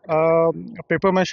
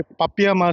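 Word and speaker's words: papier-mâché: कला को बोलते क्या है इस कला को पेपर मैश बोलते हैं बोलचाल की भाषा में हम और ये पपिया मा से स्पेलिंग होता है पी ए पी आई ई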